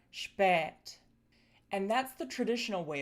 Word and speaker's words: spät: So, first we have the long eh which would produce words like spät.